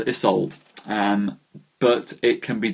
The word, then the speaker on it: Isolde: Wonderful Name to give to someone um I pronounce isold isold um but it can be done this is